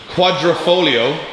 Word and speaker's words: Quadrifoglio: The car is painted Alfa Romeo, and I'm going to pronounce this because you can't pronounce it, Quadrifoglio.